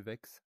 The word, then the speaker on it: Vex: Enfin, c'est pas Notch, c'est les créateurs, c'est Vex, pardon, excusez-moi, c'est Vex, ou comme Zelbak dit, mais c'est pas, hein, c'est Vex, son pseudo se prononce Vex.